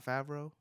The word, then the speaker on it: Favreau: Shout out to Jon Favreau. Is that how you say it? Yeah, Jon Favreau.